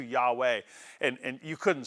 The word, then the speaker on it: Yahweh: The word I am in Hebrew is Yahweh. It's pronounced similarly to Yahweh.